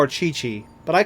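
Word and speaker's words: Qiqi: But yeah, in the game they they pronounced her name as Chi-Chi.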